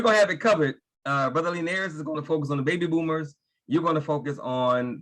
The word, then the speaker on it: Lenairis: And his name is pronounced Lenairis. Oh, Lenairis. Yeah, it's different. And it's okay. It's different. It's Lenairis. So just remember, you know, like leaning back, Lenairis.